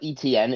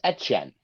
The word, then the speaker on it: Etienne: he actually said that my name is not ETN, it's Etienne. Etienne. All right. So like Achan of like Devon Achan, how his name's spelled. All right. So then we could say it like we say Achan. Travis Etienne. Etienne, not Achan.